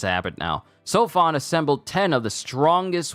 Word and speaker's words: Seofon: have known better I should have heard what it sounded like in Japanese that's on me next okay say sofon sorry it's habit now sofon assembled 10 of the